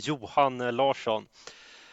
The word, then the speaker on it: Johan Larsson: Probably gonna say Johan Larsson. Is it anywhere close? It is pretty close. I guess the Swedish, at least the Stockholm pronunciation is Johan Larsson.